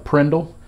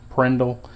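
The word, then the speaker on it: PRNDL: a lot of times, is called the Prindle. Park, reverse, neutral, second and low Prindle. It's usually, if you look at the initials, that's how it's pronounced by us mechanic type.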